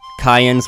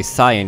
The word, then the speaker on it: Cyan: Yes, that's how I pronounce his name, with a hard C, because that's closer to the way it's written in the original Japanese, but you're free to say Cyan if you want, that's totally fine too.